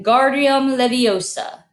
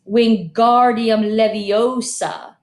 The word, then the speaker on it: Wingardium Leviosa: much more luck when Guardium Leviosa he shouted waving his art long arms like a windmill you're saying it wrong Harry heard Hermione snap its Wingardium Leviosa make the guard nice and long you do it then